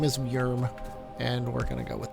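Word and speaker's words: Wjürm: and that's how you that's how you say his name is yerm not worm or wood germ or anything like that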